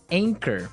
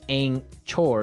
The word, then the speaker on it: anchor: o r right but you don't pronounce the CH as you normally would right another one of these really difficult uh to spell English words right so you don't say an chore you would say anchor